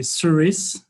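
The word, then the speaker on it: Surys: so mishka it's a you can say series this is a the way to pronounce it so so first of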